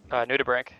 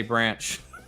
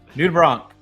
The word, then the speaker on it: nudibranch: Nudibranch. Yep. Okay. And thank you for pronouncing that. I wasn't quite sure the correct pronunciation. I always say branch. Yeah. Nudibranch.